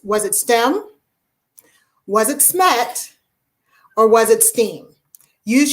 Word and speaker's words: SMET: So instead of SMET, it kind of started sounding like smut.